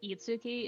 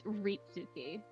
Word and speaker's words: Ritsuki: for the record, it's not Itsuki, it's Ritsuki. Ritsuki. I heard eats. You're Ritsuki. you're not wrong. You just didn't hear the first syllable.